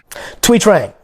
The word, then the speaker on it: Thuy Trang: How do you pronounce the name of the Yellow Ranger that replaced her? Thuy Trang.